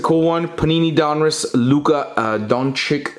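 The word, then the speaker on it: Dončić: Panini Donruss Luka Doncic. That's how I pronounce it. I don't care how you pronounce it. Doncic Rookie Gem in 10.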